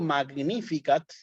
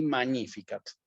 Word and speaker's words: Magnificat: como una etnia Sí entonces si yo digo magnificat no está mal pero ahí lo estoy diciendo digamos en la pronunciación clásica Sí en la pronunciación eclesiástica corresponde que yo diga Aquí magníficas sí proclama proclama a